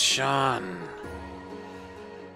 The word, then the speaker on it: Seam: And the name Seam, pronounced Sean.